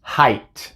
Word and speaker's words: height: esta combinación dice hey solamente hay una excepción y es la palabra height por alguna razón en estas palabras decimos ay en vez de ahí se pronuncia height height pero en todas las